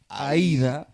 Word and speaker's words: Aïda: En el Cibao we use the E. Oh. Aïda. That's how you say it in Spanish?